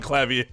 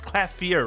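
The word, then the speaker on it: Klavier: one very well done clavier clafer CLA clafer it's clafer right is like the correct pronunciation I've been saying it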